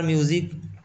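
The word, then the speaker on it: music: उसी प्रकार म्यूज़िक, म्यूज़िक में देखिए इसका उच्चारण ज की तरह हो रहा है ना, म्यूज़िक ही पढ़ते हैं ना इसको, म्यूज़िक, म्यूजिक पढ़ते हैं, म्यूज़िक नहीं पढ़ते, म्यूजिक, ज होता है इसका उच्चारण, ठीक है।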